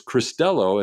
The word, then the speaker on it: Cristello: I asked before the show, just for a clarification, like I always do, is how to pronounce this, and it's Cristello, as you were saying, but my first inclination